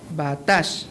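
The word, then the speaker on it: בָּטַח: En el hebreo la palabra confianza es se pronuncia batash y que significa apoyarse completamente, descansar el peso de la vida sobre algo o sentirse seguro.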